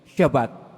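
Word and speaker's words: שבת: ang tab ay t pero ang pagbigkas po dito ay shabat pamamahinga naging batas ito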